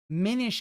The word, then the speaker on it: Minish Cap: Minish Cap, because it makes you mini. Like, really, this guy just... He probably thought it was Minish Cap, and he wants to call it Minish Cap.